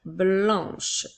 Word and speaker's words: blanc: Le mot blanc s'écrit B, L, A, N qui font le son en, avec la lettre C qui est une lettre muette.